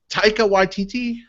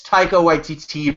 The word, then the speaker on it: Taika Waititi: Will, I know you're going to like snootily correct me when I pronounce it wrong or something. Okay. But is it Taika Waititi? No, it's Taika Waititi, Brad.